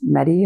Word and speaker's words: Mehdi: I H is silent like in the night and it's medi as in ever ready medic used to call me and I see you.